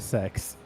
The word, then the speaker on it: CeX: CeX getting a124 refund I refuse to call it sex I know that's how it's pronounced but I'm not saying I'm going to the sex shop what about kex kex yeah that works